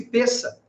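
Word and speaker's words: Pessach: palavra pensa em hebraico p e s s a c h pronuncia-se peça e peça significa passagem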